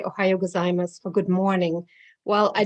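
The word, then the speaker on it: おはようございます: end ohayo gozaimasu and i didn't know the u is silent so i would walk to the neighborhood and say to all the japanese people ohayo gozaimasu and later i found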